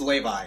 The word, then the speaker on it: Levia: are the content creators it's pronounced lay by yeah currently sat on